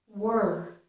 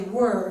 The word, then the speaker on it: we're: We say were, so we actually make this sound exactly like this word, were.